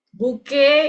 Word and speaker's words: bouquet: Kalau bahasa Indonesia buke ya, buki buki. Nah, kalau bahasa Inggris buk.